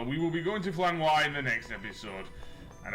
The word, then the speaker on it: Flanoir: So that will be in the next episode when we go to well, it's apparently legal pronounce it Flanor. It's actually Flanoir, even it's French speaking. Noir is French for black.